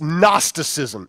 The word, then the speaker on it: gnosticism: how you pronounce it the g is silent it's gnosticism and we translate that